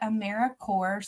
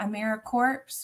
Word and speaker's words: AmeriCorps: little um picture but we do pronounce it Americorps so kind of like apple core Peace Corps um it's not a mirror corpse we are alive and well and so we just like